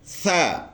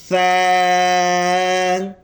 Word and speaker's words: ثا: اس کے تلفظ کرتے ہوئے ہم نے زبان کو سامنے کے جو دانت ہے اس کے سروں کے ساتھ لگانا ہے تاکہ ہم اس کو نرم اور آسانی سے پڑھ سکے.